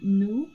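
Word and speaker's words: nous: We have nu which is spelled n o u s which means we I think I said this in the first video.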